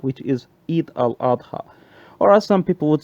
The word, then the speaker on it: Eid al-Adha: is known in Islam, as we pronounce it in Arabic, as Eid al-Adha, which is Eid al-Adha, or as some people would say, Eid al-Azha, and so on.